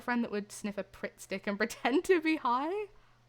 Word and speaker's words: Pritt Stick: I had a friend that would sniff a Pritt stick and pretend to be high. Pritt sticks were elite. I always thought it was prick stick, not Pritt stick.